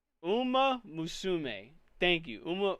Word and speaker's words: Uma Musume: But, uh, Uma, oh my god, I cannot I cannot pronounce Uma Musume, thank you. Uma, Uma Musume, thank you very much.